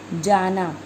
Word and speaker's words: जाना: जाना, न को अणे बोल देते हैं अणे, जाना।